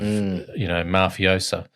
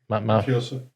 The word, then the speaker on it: mafioso: So there's all these levels of mafiosa. How do you say it, Sal? Mafioso.